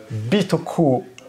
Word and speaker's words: Bitoku: Je vous entends, ça ne se prononce pas comme vous le pensez, ça se dit Bitoku.